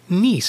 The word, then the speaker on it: Nice: pronounced correctly for example my phone always says niece for the word nice like the city in France maybe it knows I